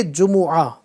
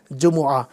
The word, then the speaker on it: جمعہ: جمعہ بولتے ہیں یا جمعہ بولتے ہیں، تو نہ جمعہ ہے نہ جمعہ ہے بلکہ جمعہ۔ اصل جو لفظ ہے تلفظ کا خیال رکھتے ہوئے اگر میں اس کی بات کروں تو وہ ہے اصل میں جمعہ۔ اس کا مطلب کیا